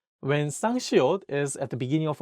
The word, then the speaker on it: 시옷: Let's go over how to pronounce siot and 쌍시옷 correctly.